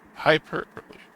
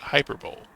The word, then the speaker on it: hyperbole: Mrs Lambert said it's called hyperbole which is pronounced hyperbole not hyperb though I don't know why English is confusing